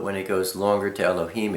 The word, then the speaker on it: Elohim: Aleph, you can be pronounced A, E, and A. Lamed is pronounced L, the L. He is, the breath. Yod is pronounced E, and Mem is pronounced with an M. So, I mean, if you look at this, Aleph, Lamed, He, Yod, Mem. Al-Ha-im. Elohim.